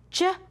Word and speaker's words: soft G: And soft G is spelled G-E, G-I, G-Y, and D-G-E. And they all make the J sound like the jump card.